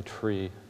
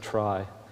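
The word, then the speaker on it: trie: tree with an I, who pronounces tree with an I tree? Like five people. Who pronounces it try? That's good. Try is a much better way.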